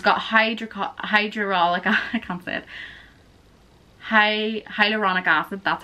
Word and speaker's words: hyaluronic: And then there is the hydrating serum, and it's got hyaluronic acid, that's how you say it.